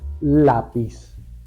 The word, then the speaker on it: lápiz: grave con tilde es lápiz lleva tilde en la a porque la palabra termina